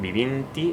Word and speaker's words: vivint-hi: The form “vivint-hi” (living there) can also be formed. Or “vivint-hi” (without pronouncing the T). This T, some people pronounce it and some don’t. “vivint-hi” or “vivint-hi” (living there).